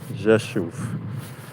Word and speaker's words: Rzeszów: Yeah, it's Jashu. Jashu. It's uh R Z E S Z O W Jashu. That's how you say it.